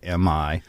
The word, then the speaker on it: Imij: My name is spelled Jimi, as in Hendrix, and then my moniker Jimi Imij is Jimi Imij, the image of, which was given to